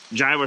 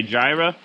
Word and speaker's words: Jireh: Jireh spelled with a Y, which I think somewhere along the lines in the English language, we switched it to a J and now we say Jireh.